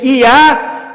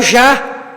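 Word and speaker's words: יה: vogal a ou seja e a seria a pronúncia correta no original na Bíblia Hebraica então eles traduzem o j o Yudi o Y por J aí em vez de Iá Eles colocaram já ou seja o seu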